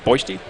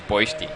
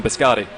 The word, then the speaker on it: Boishti: Well, I believe the team name is Boishti. Yes. I was just told that was the correct pronunciation, was Boishti. I always prefer to call him Biscotti, but now that we actually know the proper name and show him a little respect and call him Boishti.